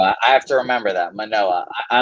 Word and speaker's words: Manoah: Manoah, there we go. I have to remember that. Manoah. I like Manoah.